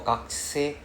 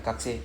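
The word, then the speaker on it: gakusei: Then the pronunciation for gakuse, don't need to pronounce the U. So it's not gakuse. It's not gakuse, gakuse. Right? The U is silent. Gakuse. Sorry. Yeah, yeah, gakse. The U is silent. Like taxi, right? You don't say takushi. The U is silent.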